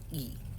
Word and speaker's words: Gravel: Americanized, which is why my last name is spelled like gravel, but it's pronounced Gravel, Gravelle.